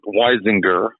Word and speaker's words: Weisinger: Yeah, well, it's Mort Weisinger. Okay, that's Weisinger. And it says the man who just butchered your name.